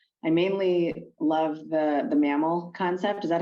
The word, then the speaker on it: MaML: podcast i uh i mainly love the the mammal concept is that how you say it man yeah mammal yeah okay all right good um very creative